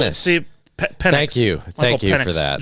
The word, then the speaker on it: Penix: I know sometimes you mispronounce things, but Michael Penix Jr. Penis. See, Penix.